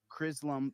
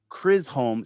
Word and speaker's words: Chisholm: Case of Crisholm versus Chisholm, Crisholm. Crisholm. Yeah, Chili or Dan's getting snitched John out. Chisholm, I think is how you say the last People name.